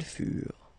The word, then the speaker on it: furent: Keep in mind that ENT, you know, the ending for the plural form is never pronounced, though. Furent, okay? Ils furent, elles furent.